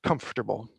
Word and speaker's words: comfortable: of this word is comfortable comfortable it's got three syllables not four right now you might hear comfortable or you might even